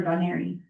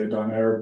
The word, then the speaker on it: Donaire: Is it Donaire Auctions or Donary? So I say Donaire, but I put it both ways.